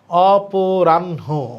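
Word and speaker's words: অপরাহ্ণ: হ ন এখানে আছে মূর্ধন্য মূর্ধন্য এবং হ এর মধ্যে কোনটা আমরা আগে পড়ি ন তাহলে এখানে উচ্চারণ লেখা নেই এটা উচ্চারণ হবে অপ রান অপরাণ অপরাণ অপরাণ আমার মনে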